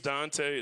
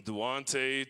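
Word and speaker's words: Duante: didn't notice my name's dante it's spelled all up uh it's d-u-a-n-t-e so i get everything from duonte to dwant i even get dwayne every once in a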